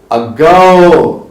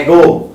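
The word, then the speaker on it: ago: सारी चीजें बताएंगे तो आमतौर पे लोग इसको बोलते हैं एगो सो इट इज नॉट एगो इट इज अगो तो अगर आपने ये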